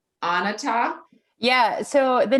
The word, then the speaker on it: Onatah: um do not want to butcher the name anata yeah so the name means of the earth and people pronounce it differently i say onada some people say it's like a full spectrum